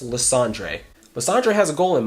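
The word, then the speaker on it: Lysandre: making the world beautiful the dude LeAndre it's pronounced LeAndre not not Lysander it's pronounced LeAndre LeAndre has a goal in mind okay and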